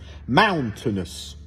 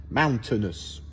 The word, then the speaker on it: mountainous: Donc j'accentue le mound, mais tout le reste, c'est le même son, quelle que soit la combinaison de voyelles. Mountainous. Mountainous.